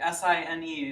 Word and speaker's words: sine: those are called the sine okay s-i-n-e is pronounced sine okay just like a stop sign cosine tangent cosecant secant